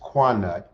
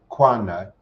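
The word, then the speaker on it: Connacht: tells of two famous beasts the whitehorn bull pronounced quanut c-o-n-n-a-c-h-t quant and the brown bull of ulster u l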